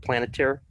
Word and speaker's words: Palantir: How do you pronounce that? Palantir?